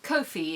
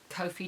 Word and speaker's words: Ko-fi: I'm going with Ko-fi as the pronunciation for this week.